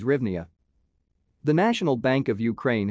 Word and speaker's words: hryvnia: equals zero pronounced gryvna however the standard english name for the currency is rivnia the national bank of